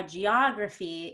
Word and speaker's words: geography: syllables desperate autograph modernize so we can see how geography is different from autograph they stress geography goes one to the left an autograph goes two